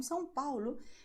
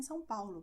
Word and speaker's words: São Paulo: Okay, I come from São Paulo and we will pronounce just like I just told you.